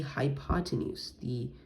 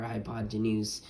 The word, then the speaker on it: hypotenuse: It's like high, pot, and then enuse.